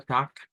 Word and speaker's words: Tag: al final, o bien puede pronunciarse con una K.